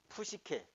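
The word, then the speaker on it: ψυχή: 영어로는 이제 이게 묵음이 됩니다. 그리고 요 푸시라는 것 때문에 요거는 이 조어가 이렇게밖에 안 돼. 이걸 영어로는 싸이라고 읽는데 독일어로는 히라보하고 똑같이 푸시라고 읽는데 독일어 발음이 히라보하고 같은 거예요.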